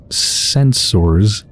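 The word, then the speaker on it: censer: I think it's pronounced sensor, basically the same as like censorship, but I'm going to pronounce it sensor instead of censor, just to kind of differentiate it a little bit.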